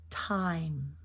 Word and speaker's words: time: trouble with it um it's the word time time think of the t t t t exasperate